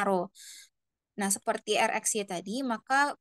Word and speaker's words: rho: adalah R rho ya Nah ini lambangnya adalah rho bacanya rho nah seperti rxy tadi maka korelasi rho ini